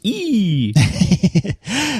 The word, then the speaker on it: EE: it in the UK I believe it's pronounced e so yeah so e has it in e.o.